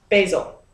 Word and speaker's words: basil: i'm going to add about a tablespoon of basil or basil depending upon how you say it and i'm